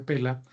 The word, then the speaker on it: Pella: los mosaicos de pela pela es el nombre se escribe pella pero sice pela en torno torno a